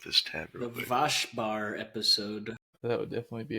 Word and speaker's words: Waschbär: Waschbär. It's Vaspar? Waschbär, Mm, which literally translates to wash bear.